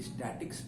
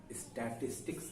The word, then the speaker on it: statistics: देखिए, इसको प्रोनाउंस करने में जरा सा केयरफुल रहिएगा। बहुत से बच्चे स्टैटिक्स बोल देते हैं, वो गलत है। स्टैटिस्टिक्स आप पढ़ने जा रहे हैं, इसका ध्यान रखिएगा, ठीक है ना।